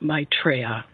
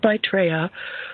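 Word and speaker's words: Maitreya: their head as their leader stands the Lord mraa I'll spell that for you m AI t r y a the Lord mraa who was indeed foretold to come at this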